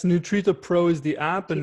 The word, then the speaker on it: Nutrita: But how do you work with in your program, it's called Nutrita. Is that how you say it right? I'm saying Yeah, it's Nutrita Pro is the app and Nutrita Pro.